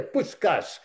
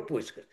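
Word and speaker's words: Puskás: Mas um jogador alemão deu um pontapé no Puscas, que era o grande jogador, aliás a pronúncia correta, o nome dele é Puscas, mas no Brasil virou Puscas.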